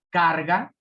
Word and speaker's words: carga: Ejemplo, carga. Si fuera en la última, sería en ga, carga, pero es car. Entonces, es en la penúltima, por lo tanto, se llama grave.